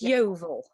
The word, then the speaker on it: Yeovil: nice to have you and how do you pronounce that it's yeovil novel l at the beginning of everything